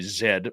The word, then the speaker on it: zed: Zed because I am Canadian so I got to say zed, proper pronunciation of the letter.